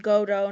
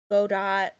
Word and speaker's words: Godot: learn this myself, but his name's pronounced Godo, not Godot. I'm not. Which I would You never have. cannot make me not pronounce that T. I know, like, I always still call him Godot in my head, but it is technically Godo.